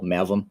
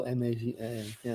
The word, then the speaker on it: Mavim: So despite the proper pronunciation you had, can you tell us how to spell Mavim, just so they can learn more about you?